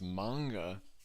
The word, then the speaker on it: manga: It's pronounced manga.